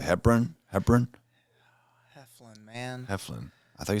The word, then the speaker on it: Heflin: name wrong again Ken it is hefin not hebburn James appreciate you coming